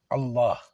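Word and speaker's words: الله: Quoi que vous disiez, il est ou Allah, vous prononcez qu'un seul L. Allah, il est. Vous comprenez, quand vous dites Bismillah ou Bismallah, vous prononcez ça, les gars. C'est faux. Je suis désolé, c'est marqué ça.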